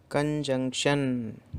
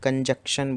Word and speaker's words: कंजंक्शन: कंजंक्शन, बहुत सारे लोग मिस प्रोनाउंशिएट करते हैं इसको कंजक्शन बोल के। That is नॉट the correct pronunciation, it's कंजंक्शन।